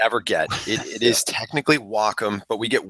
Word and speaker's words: Wacom: It is technically Wacom, but we get Wacom, we get Wacom, Wacom, we get all kinds of different ones.